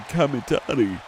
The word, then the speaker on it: Kamitani: As Saya Kamitani. I pronounced it correctly.